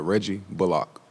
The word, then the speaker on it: Reggie Bullock: would you mind sharing the proper and preferred pronunciation of your last name um my name is uh reggie bullock bullock block i'm sure you know i'm thank